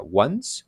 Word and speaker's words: once: la vemos aquí que se escribe 11 pero se pronuncia ones es como nosotros esta